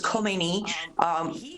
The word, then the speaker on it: Khomeini: Until Khomeini came along, Ayatollah Khomeini, that's sometimes pronounced as Khomeini, he hijacked an ongoing revolution, not even revolution, it was an uprising.